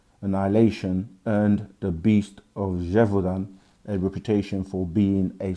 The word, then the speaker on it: Gévaudan: One such case is the beast of, another French word to try and pronounce, Gévaudan. Gévaudan.